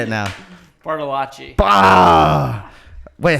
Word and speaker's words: Bartolacci: Bartolacci. Wait, how did I write it down? Oh, You wrote it phonetically.